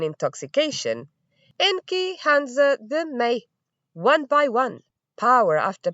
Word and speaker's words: me: Is written m e, but is pronounced may.